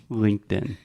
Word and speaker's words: LinkedIn: is the same so sometimes we use a true T and say linked in most of the time we say LinkedIn okay does that make